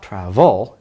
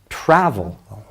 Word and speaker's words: travel: v e vowel l well it's not travel it's travel the emphasis is on the first syllable it's travel and so